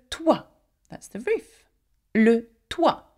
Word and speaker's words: toit: Le toit, though it has a T, we do not pronounce the T, by the way.